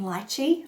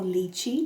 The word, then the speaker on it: lychee: Top notes for this one are red currant and lychee, or lychee, depending on how you want to pronounce it.